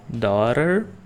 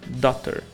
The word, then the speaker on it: daughter: T Você pode falar Daughter esse T vira mais um som de R ou Daughter não tem problema mas o mais comum realmente é Daughter bread eu gosto de